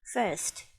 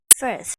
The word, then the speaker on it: first: ถูก ต้อง นะ คะ ก็ อย่า ลืม ออก เสียง ท้าย เา มี 2 เสียง มี S และ T First First เอา ล่ะ ไป ที่